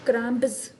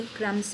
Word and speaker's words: crumbs: दिया है ना क्रम्स, तो हम इसको क्रम्ब्स नहीं पढ़ते, CRUMBS नहीं पढ़ते, बी नहीं पढ़ते, क्रम्स नहीं पढ़ते, हम इसको क्रम्ब्स नहीं पढ़ते, क्रम्स पढ़ते हैं, क्रम्स। बी को हम साइलेंट कर लेते हैं।